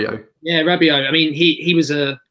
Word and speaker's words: Rabiot: I think Guendouzi will play a few games, though, because Emery previously at PSG, is it Robert? I can't pronounce Rabiot. Yeah, Rabiot.